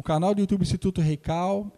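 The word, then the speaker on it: Heikal: E se você quiser ver os meus vídeos, eu tenho um instituto chamado Instituto Reikal. Reikal se escreve com H, é H-E-I-K-A-L, que significa em hebraico local sagrado, tá?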